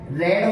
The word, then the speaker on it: read: जब हम आगे बढ़ेंगे तो सेकंड फॉर्म में राइट का रोट होगा, रीड का रेड होगा, स्पेलिंग सेम होगी, बट जब हम इसका प्रोनाउंस करेंगे तो फर्स्ट फॉर्म में रीड बोलेंगे, सेकंड फॉर्म में रेड बोलेंगे।